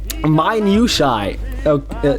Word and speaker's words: minutiae: How do I pronounce that? Minutiae.